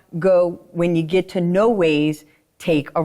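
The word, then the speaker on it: Noahs: and he uh and he was like, "No, it's no ways. That's the way we pronounce it."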